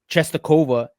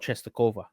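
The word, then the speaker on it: Częstochowa: Rakau Czestochowa is because the church Czestochowa, the church that my family goes to in Ecuador, is called Czestochowa. Czestochowa. Yeah, it's named after the Polish.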